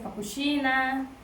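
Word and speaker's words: капучино: Cappuccino se dice cappuccina.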